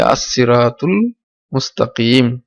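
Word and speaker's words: الصراط المستقيم: আমরা মিলিয়ে পড়ি তাহলে আসসিরাতুল মুস্তাকিম। আসসিরাতুল মুস্তাকিম। এটা হামজাতুল ওয়াসিলের কারণে এটা হামজা উচ্চারণ হবে না, কিন্তু এটা মিম, এটা হচ্ছে হরফে কামারি। তো কামারি হরফের ক্ষেত্রে লাম উচ্চারণ হবে, তাহলে সিরাতুল হবে, সিরাতুল মুস্তাকিম।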